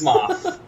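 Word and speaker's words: Smough: It's pronounced Smoth.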